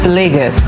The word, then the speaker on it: Lagos: the pronunciation say yes so it's legus Legos so like you're laying down and then good at Legos you'll always get a